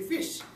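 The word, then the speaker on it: ghoti: Yes, so G-H-O-T-I can be pronounced as fish in English, because G-H in R-O-U-G-H is fa, sound. Right? Okay, and T-I in T-I-O-N is sha sound.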